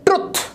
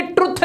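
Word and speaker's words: truth: Next है ट्रुथ, एकदम से बोल देते हैं ट्रुथ, ट्रुथ एंड डेयर खेलेंगे, ये ट्रुथ नहीं होता, ये होता है ट्रूथ, ट्रूथ।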